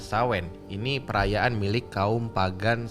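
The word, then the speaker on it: Samhain: paling memberikan pengaruh adalah perayaan Shanghai tulisannya Bacanya adalah sawen ini perayaan milik kaum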